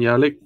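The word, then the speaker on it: Yelich: foil and a christian yellow yellow is how you say his name yo kelly almost there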